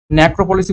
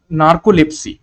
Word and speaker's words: নার্কোলেপসি: নেক্রোপলিসি বলতে আমরা কি বুঝি অ্যাকচুয়ালি, সরি আমি ভুল বললাম, নার্কোলেপসি উচ্চারণটা আমি ভুল করেছি তার জন্য সরি।